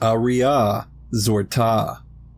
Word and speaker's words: Aria Azorta: Aria Azorta, pronounced Aria Zorta.